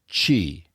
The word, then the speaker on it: qi: Through them flows qi. Sometimes you see it spelled like a Q and an I.